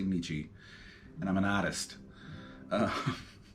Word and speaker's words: Nietzsche: So this is called Freddie Nichi's Intergalactic Jubilee, and I know it's pronounced Nietzsche, but in the context of this song title, it sounds better to say Nichi.